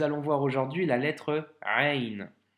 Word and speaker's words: ع: de te dire que le son doit venir du milieu de la gorge, d'accord? Donc c'est un son qui n'est pas forcément évident à prononcer. Donc c'est le son Ain.